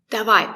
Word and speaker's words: Давай: We pronounce it as a. Пока. Пока. Пока is informal. Sometimes you might hear Давай, пока.